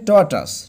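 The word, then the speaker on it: tortoise: একটা কাঠকরা পাখি আর টর্টাস এর উচ্চারণটা হবে টর্টাস টর্টাস মানে হচ্ছে কচ্ছপ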